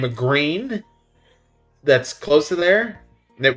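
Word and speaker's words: Gruene: are absolutely phenomenal but the town is called green and it's not spelled like the color green like G re e n it's spelled g r u e ne e if I remember correctly green g r u NE e so the little town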